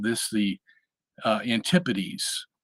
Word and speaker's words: antipodes: called this the uh antipodes ant-i-p-o-d-e-s um the pronunciation of that word kind of uh obscures it a little because uh if you were to be crude you could say antipodes Okay antipodes anti is